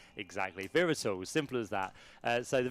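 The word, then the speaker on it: Wera Tools: It is German. So, so that is why the the W is pronounced as a V. Exactly. Verols.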